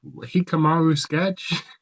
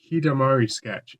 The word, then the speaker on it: Hidamari Sketch: And I said "No, it's Hidamari Sketch. Hidamari as in sunshine."